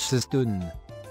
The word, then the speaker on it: Sisteroun: En provençal, occitan, on écrit Sisteroun et prononce Sistoun.